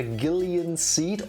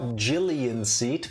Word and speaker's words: Gillian Seed: snatcher the main character Gillian seed or Jillian seat the narrator pronounces it both race is an amnesiac